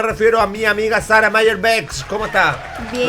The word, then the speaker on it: Mayer-Beckh: Me refiero a mi amiga Sara Mayer-Bex. ¿Cómo está? Bien. Pronuncié bien el apellido, ¿no? Mayer-Bex, vamos bien.